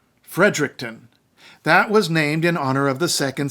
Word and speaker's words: Fredericton: named after royalty too its capital is Fredericton not Fredericton Fredericton that was named in